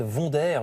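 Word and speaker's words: Wonder: dans Libération ça s'appelle vonderire je prononce à la française parce qu'il s'agit de la marque de pile autrefois bien connu c'est l'histoire d'une ouvrière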